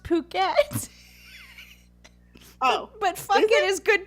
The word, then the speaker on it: Phuket: I just like okay I think it's supposed to be pronounced puket oh but it is